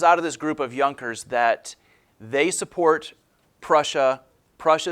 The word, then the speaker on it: Junkers: alongside with a group of people known as yonkers the jay is silent in this these are the wealthy landowners